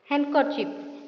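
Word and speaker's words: handkerchief: तापर एठी लिखा अछि हैंडकरचिप तो एठी डी साइलेंट अच्छी।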